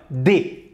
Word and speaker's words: des: دي لا يقال دس ou دس بل يقال دي.